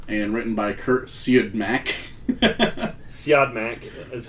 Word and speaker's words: Siodmak: Siodmak is how it's pronounced.